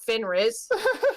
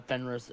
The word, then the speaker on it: Fenris: to finriz a legendary like wolf I'm gonna shame you because you're saying his name wrong Henry I think this is like a I I'm pretty sure it's like uh Fenris is a monster from